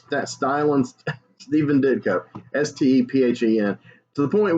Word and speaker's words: Stephen: that and she's like that's pronounced steven even though it's ph you'll learn all this